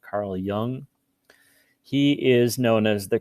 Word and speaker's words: Jung: first person is carl young i know his name is spelled with a j but you pronounce it with a y sound carl jung he is known as